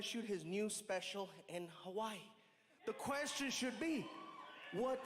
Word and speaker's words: Hawaii: people around the world find out things about Hawaii you never knew. First things first, the proper pronunciation is Hawaii.